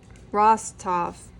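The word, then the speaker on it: Rostov: name is like count Alexander Ross so Ross Ross top sorry I'm really bad pronouncing names r-o-s-t-o-v I can hear it in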